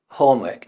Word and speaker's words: homework: is that of course British people tend not to pronounce the R here so they stay home work home work and the stress is